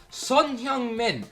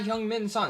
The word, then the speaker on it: Son Heung-min: Son Heung-min. That's how they say his name there. It's not Heung-min Son, it's Son Heung-min.